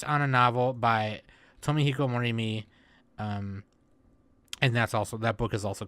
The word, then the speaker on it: Morimi: How do you pronounce his name? Morimi, there we go.